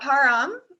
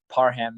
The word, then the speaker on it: Parham: So is that Param? Is that how I pronounce your name? And seven. It's Parham is the easier pronunciation.